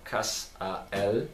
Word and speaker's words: Cassiel: Aí tem o nome dele em hebraico, planeta, outros nomes, a pronúncia correta, Kas-a-El, etc.